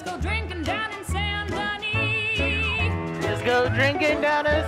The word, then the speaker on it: Denis: This place we all love called Saint Denis.